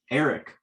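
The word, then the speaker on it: Aereck: did an interview with eric uh from pronouncing that properly it's a-e-r-e-c-k and he was kind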